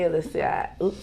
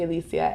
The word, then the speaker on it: Allecia: my name is alyssia said my name wrong one more time hi everybody my name is alicia and i have bipolar